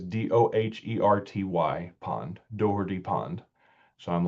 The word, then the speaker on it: Doherty: And I had 15% of responding residents said, "We pronounce it with a hard T." Dherty. Um, Dhy. Dority.